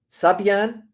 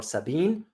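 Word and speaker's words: Sabaean: And Yemen was one home to one of the major powerful kingdoms, the likes of Minians, Sabian or Sabine. You can pronounce it in both terms.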